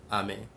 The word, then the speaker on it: Ami: A like apple and then me. It's French for friend. But apple. Ami.